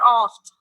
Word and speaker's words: oft: Let's move toward for oft. Oft is a literary form, or you can say in short, it is written often. In often, T is silent, but here T is not silent.